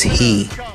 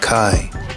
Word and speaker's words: chi: The letter X is pronounced as he in Greek, but Chi in English.